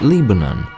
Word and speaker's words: Lebanon: The town of Lebanon is Lebanon. Hell, even Missouri is pronounced in 2 different ways, Missouri or Missouri.